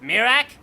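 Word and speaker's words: Miraak: Yes, and it is pronounced Mirak, yes?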